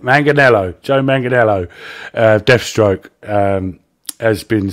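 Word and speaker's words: Manganiello: It's like Manganello or something. Manganello, that's it. Manganello.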